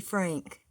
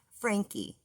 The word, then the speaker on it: Franke: And her name is not Evie Frank. Okay? There is no Evie Frank. Her name is Eve Franke.